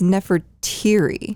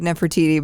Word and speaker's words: Nefertiri: Well, it sounds like Nefertiti, but then we saw it. Nefertiri.